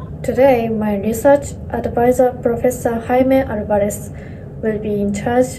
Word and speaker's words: Jaime: My name is Jaime. It is pronounced as Jaime. Actually, I work in Japan, but I am Mexican. So it's a Spanish pronunciation, Jaime.